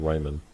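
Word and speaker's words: Rijmen: belgians joan damon and vincent reiman i believe that's how it's pronounced r-i-j-m-e-n this russian doll algorithm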